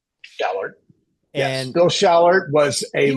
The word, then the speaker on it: Schallert: hope I say his name right Will William shaller shaller yes Bill Sher was a was every everybody's